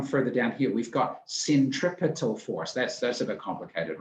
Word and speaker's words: centripetal: It's centripetal, not centripetal, right?